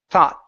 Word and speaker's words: thought: Okay, you're leaving your mouth open instead of bringing your tongue up like this and pronouncing the T. Thought. Okay, so with the T sound, your tongue needs to be this. That's the K sound. This is the T.